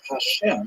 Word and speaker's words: Hashem: songs of God and the word Hashem of course is pronounced with the letter H but there is no